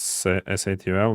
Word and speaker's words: S8UL: Curry rice you can pronounce soul. It's easy. Yeah. No it's SAL not soul.